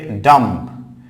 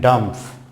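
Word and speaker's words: dumb: দেন হচ্ছে ডাম্প, এখানে ডাম্প বলে আমরা ডিফ অ্যান্ড ডাম্প, তাহলে ডাম্প নয়, ডাম, ডাম, ডাম, ডাম।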